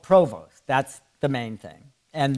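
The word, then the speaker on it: Prévost: Provo. Now, if we lived in Canada, they would pronounce it Provo. They don't pronounce the ST.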